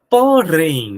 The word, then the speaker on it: porém: Por exemplo, olha, porém, vamos separar a palavra porém para ver quem é a sílaba tônico. Porém, é a última, professor. Show de bola. É, é, professor, é a última. Então ela é uma oxítona.